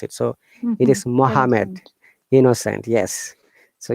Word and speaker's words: Muhammad: it so it is muhammad innocent yes so you have to assume one n is missing and one m is missing okay brim can you please try innocent muhammad no mohammed very good now second